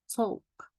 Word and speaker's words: talk: عندنا دلوقتي the sound L. امتى ال L بتيجي silent ما بننطقهاش يبقى صوت صامت. عندنا أمثلة مع بعض نشوفها. عندي choke choke. اوكي. half half half half. talk talk. walk walk. yoke yoke. stoke stoke. wood wood. could folk folk.